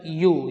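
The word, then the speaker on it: ewe: मतलब भेड़ होता है तो यू यू माने भेड़ी स्पेलिंग अलग है यू वाई ओ यू यू नहीं है ई डब्लू ई ई माने भेड़ी हर्स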